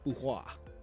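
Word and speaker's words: Fu Hua: Name, Fuhua. Good to know. Fuhua, you pronounce well.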